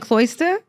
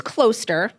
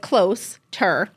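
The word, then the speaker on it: Closter: Oh, but maybe the Jersey accent sounds like you're saying Cloister? No, it's Cloister. Like close. Like close-ter.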